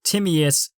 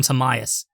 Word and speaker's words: Timaeus: such naive seven-year-old me thought it was actually pronounced Timaeus rather than Timaeus so odd but also